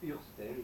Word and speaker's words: Hurstel: Parce que sinon, ça se prononcerait en allemand Urstel. Et pour que ça fasse Urstel, il y a eu un tréma qui a été mis à une époque.